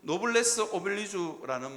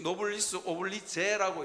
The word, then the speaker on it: 노블레스 오블리주: 이 노블리스 오블리주라는 말은 프랑스어인데요, 가끔씩 노블리스 오블리제라고 이러는데 이건 영어식 발음이라고 그럽니다. 그런데 어쨌든 프랑스어로 제대로 읽으면 노블레스 오블리주입니다. 그러니까 주자하고 제자하고 중간에 발음이 있다는데 저는 아무리 들어도 모르겠어요. 그냥 주둥이를 툭 밀고 쭉 하면 된답니다.